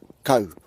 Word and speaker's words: Kau: little toe alright that's probably the easiest way to pronounce the first part of your place name co alright just like st. oh you you got a crusty toast that's a crusty looking toe yep very similar similar sound toe cone alright next